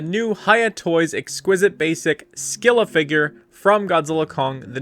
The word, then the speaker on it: Scylla: And just getting it out of the way, yes, I pronounce it Skila. And if you don't like that, you can take it up with Coldplay.